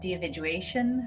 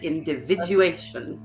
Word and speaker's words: individuation: is this idea of the dividuation of the i can always i always mispronounce this one the individuation the individual individuation yes let's get all the syllables in there the individuation um but that's